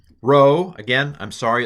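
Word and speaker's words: rho: this is p p row again I'm sorry it looks like a p but it's not in Greek it's a row it's a r um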